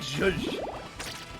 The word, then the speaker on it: Joux: Yeah, it looked like zhuzh. It's just like what you describe when you add lemon to something. You give it a bit of zhuzh.